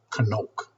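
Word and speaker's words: חנוך: It says this is how you pronounce the word kanoke.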